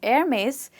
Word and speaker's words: Hermès: The next one that we have is again an amazing luxury brand, a French luxury brand, and like you saw Hermès, this is also pronounced very differently from how people actually pronounce it.